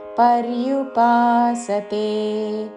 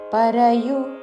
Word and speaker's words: పర్యుపాసతే: అని పలికి త్వాం భక్తాస్త్వాం పర్యుపాసతే పరయు అనకూడదు పక్కన రా కి యావత్తు పర్యుపాసతే భక్తాస్త్వాం పర్యుపాసతే ఏ